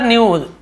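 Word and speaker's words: knew: हुए भटकता रहा Chandar न्यू his father Chandar जानता था नो का न्यू यहां पर भी के सेट होता है केवल न्यू के एन यदि एक साथ है तो के साइलेंट आता है न्यू नो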